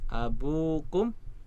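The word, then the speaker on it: أبوكم: Wawu ya, ada tambahan wawu. Jadi dibacanya panjang. Abukum, ayah kalian, abuna ya, ayah kami ya.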